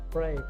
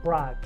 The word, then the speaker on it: Prague: been a few times to prague pray no sorry we say prague story many times i've